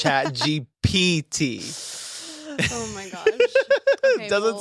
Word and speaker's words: ChatGPT: Am I saying it right? ChatGPT? Yes. What did it sound like I said? I think I was saying ChatGPT. Oh. It's P. Yeah, it's P.